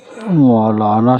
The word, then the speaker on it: مولانا: اب آپ کو میں ایک چیز اور بتا دوں کہ مولانا شبد ہے مولانا جو ہے میم کے اوپر